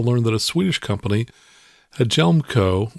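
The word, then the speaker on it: Hjelmco: that a swedish company a gelmco which is spelled h-j-e-l-m-c-o jelmco has invented unleaded avcas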